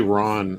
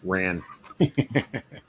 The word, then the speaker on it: Ran: Was it Ran or is it Ron? How do you pronounce that? Probably Ron in Japan, but here it's Ran.